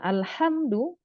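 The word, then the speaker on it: الحمد: Nah, ha dengan ha, nah itu karena kalau tidak tahu makhrajnya maka nanti pengucapannya sama aja, jadi kedengarannya ha juga. Itu padahal beda antara alhamdu dengan alhamdu. Alhamdu pujian, alhamdu kebinasaan, kehancuran. Wah, jauh banget kan?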